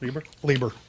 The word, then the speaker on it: Lieber: yeah, that was with Jack Kirby and Larry Lieber, I believe is how you Yes, Lieber. you're right. Lieber.